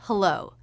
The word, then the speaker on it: hello: diphthong we also heard hello this is a two-syllable word with stress on the second syllable hello so it's that second syllable with the up down shape of the voice the first syllable will